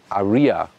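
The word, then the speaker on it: Ariya: for a German Market when you say Arya in German that's the exact pronunciation of Aryan and that is of course another good combination for a car on the German market so the Germans then in their Market try to say rather Aria so it's differently pronounced and there's no you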